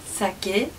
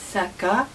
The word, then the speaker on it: 酒: Il a plusieurs prononciations: sake, saka et shu.